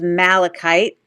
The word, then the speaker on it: malachite: And of course, the green stone is called malachite.